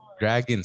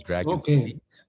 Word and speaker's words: Dragon: okay okay um dragon speech i i mispronounced i thought it was dragging but it's dragon speech and i can visit